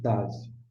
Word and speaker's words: Tav: E por fim, nós temos aqui ó, o TAV. Tanto com pontinho quanto sem pontinho, é TAV. É o som de T de tatu.